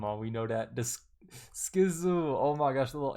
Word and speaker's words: SKZ: Stray Kids, also known as SKZ, pronounced Skiz.